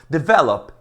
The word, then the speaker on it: develop: Develop é a segunda.